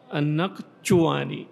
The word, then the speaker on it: النقشواني: والشين هذه تضغط عليها قليلا لأنها جيم فارسية، النقشواني هكذا بحرف بين الجيم والشين، وضبطها بالضم، يعني النون هذه مشددة مفتوحة، وهذه التي على صورة القاف ساكنة، وهذا الذي على صورة شين مضمومة، ونطقها كما أسلفنا.